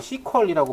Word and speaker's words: SQL: 쿼리 지라는 거의 약자고 이게 예전 분들은 이걸라고 발음 안 하고 시퀄이라고 발음하는 분들도 있어요 그때 표준으로 사용된게 SQL 아니고 시퀄이라는 그런 뭐의 약자를 머리 글자만 따온게 그런 발음이 돼서 그렇게 사용을 했다고 하는데 일단 SQL 표준이 여러분들은 SQ 발음해 면 될 거 같고 자 SQL